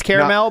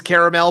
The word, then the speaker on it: caramel: so great he said the right way to say is caramel but I say caramel I think I say caramel it's a regional thing so don't make fun